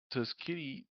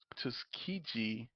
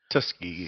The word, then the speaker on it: Tuskegee: Known cases include the Tuskitti Tuskegee Tuskegee Syphilis study, MK Ultra, mind control test, and deliberate radiation releases targeting vulnerable populations.